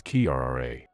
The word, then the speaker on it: Kira: It is a Russian name, and the pronunciation is Kira.